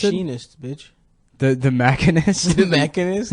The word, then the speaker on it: Machinist: He made the Mechanist before he did Batman. Is that how you Begins. pronounce it? Machinist, bitch.